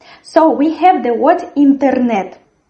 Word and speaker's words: интернет: The stress in this word falls on the third syllable. And as well, we have here the sound R, which is like tigers do. But not like in English, we don't fold our tongue into a crescent. We have this firm R.